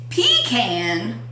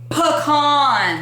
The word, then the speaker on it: pecan: we're talking about yes okay it is not pecan it is pecan pecan it is the pecan tree yes not